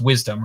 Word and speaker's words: WSDM: was a scientific conference wsdm 2021 was just recently probably pronounced wisdom right correct yes uh yeah and